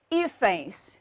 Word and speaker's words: hífens: o plural, eu tenho hífens. E o que acontece aqui agora? A palavra hífens perde o acento. Eu continuo tendo aqui uma paroxítona, a sílaba tônica continua sendo a penúltima, mas ela termina agora em ENS.